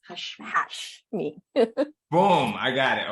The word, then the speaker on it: Hasmi: Give it to me 100% so that I have it right, because there's nothing worse than pronouncing someone's name for years, right? Yeah. It's Hashmi. So it's Hasmi.